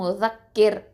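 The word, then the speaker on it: مُذَكِّر: அப்போது முஸக்கிர், ஓகே, முஸக்கிர். இப்போது இந்த ரா சுக்கூனை வந்து என்ன பண்ணுவோம்? தர்க்கிக்காக தான் ஓதணும், அதாவது மெல்லினமாக தான் ஓதணும், ரொம்ப வந்து அழுத்தமாக நம்ம உச்சரிக்கக்கூடாது. முஸக்கிர், ஓகே, அவ்வளவுதான். இப்போ இதை எப்படி சொல்லணும்?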